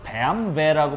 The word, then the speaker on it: BMW: 이야기하 내가 좋아하는 빨간색 실제로 독일어 발음으로는 배암 베라고 발음하는게 맞습니다 BMW 궁금하고요 베안 베